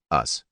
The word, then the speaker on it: Us: 1968 was Ron karenga's us pronounced us as in not them karenga's group sought to